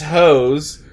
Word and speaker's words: Heaux: These hoes, but hoes is spelled Heaux.